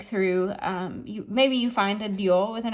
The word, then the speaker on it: dio: And dio, same thing, it's a one-syllable word because the I is